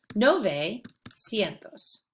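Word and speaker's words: novecientos: Now, nueve, again, has a lot of syllables, so they make it sound more like noventa. Nove cientos.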